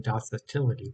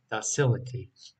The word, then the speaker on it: docility: the silica basil facility i keep on saying dosatility but it's not how it's said docility um no this can